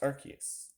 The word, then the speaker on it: Arceus: It's pronounced Arceus.